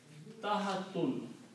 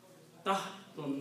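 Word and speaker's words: تحت: The word ta, ha and ta. Tahatun. Three letters, ta, ha and ta. The noun is tahatun. Tahatun means under. Tahtun means under.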